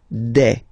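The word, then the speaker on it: des: feminine form okay and then the plural form de all right here a s you pronounce it you pronounce it like e okay all right let's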